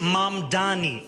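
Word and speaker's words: Mamdani: The name is M Donnie. M A M D A N I. You should learn how to say it.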